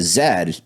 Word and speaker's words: Z: no but the way the Australians say they because they pronounce Zia Zed it does sound like